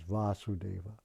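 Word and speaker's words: Vāsudeva: son of vasudeva therefore his name should be vasudeva as well as krishna with a long a just like there's a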